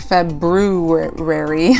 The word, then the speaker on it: February: and it looks like February but we don't really pronounce the R okay now we're gonna